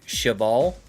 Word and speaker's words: cheval: In French, you wouldn't pronounce the S. So just cheval.